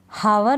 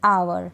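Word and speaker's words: hour: पढ़ते हैं ऑनेस्ट क्या पढ़ेंगे ऑनेस्ट एच इसमें साइलेंट रहता है जैसे हनर नहीं पढ़ेंगे ऑनर क्या पढ़ेंगे ऑनर इसमें भी हावर नहीं पढ़ेंगे आवर क्या पढ़ेंगे आवर ठीक है इस प्रकार से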